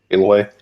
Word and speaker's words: Aloy: Uh, Aloy, is that is that how pronounced her name? Aloy.